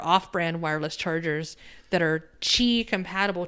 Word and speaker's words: Qi: wireless chargers that are Qi compatible. Qi is spelled QI, which is just completely breaks my brain.